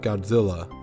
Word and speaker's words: Gojira: My character's name was Gojira Titanus, pronounced Godzilla.